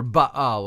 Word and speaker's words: Baal: And the chief god of the Phoenicians was Baal, or Baal, if you want to pronounce it that way, with the hyphen in between, B-A-L.